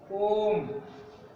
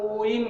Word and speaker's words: ओम: कुछ बच्चे भ्रम में पड़ जाते हैं, इसका उच्चारण ओइम कर जाते हैं, ओइम। ये जो बीच में दिख रहा है ये इसको ई समझ लेते हैं, जबकि बच्चों ये ई नहीं है, ये 3 अंक है।